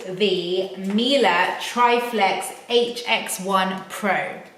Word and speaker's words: Miele: Right, so let me just talk to you about Triflex over here, because this is the first Miele, and I say Miele, and that is how you pronounce it, by the way, for anyone thinking that I'm saying it weird, that is how you pronounce it.